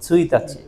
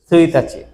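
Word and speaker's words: 一日: ছুইতাচি। কি সুইতাচি। আবার যদি মাসের এক তারিখ না উদ্দেশ্য হয়ে যদি একদিন উদ্দেশ্য হয় তখন এই সেম কাঞ্জের উচ্চারণ হবে ইচি নিচি।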